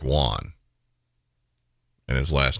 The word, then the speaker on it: Juan: this incident I say police called The Suspect John but that's not how his name is spelled it's spelled juu an it's spelled like Juan and his last name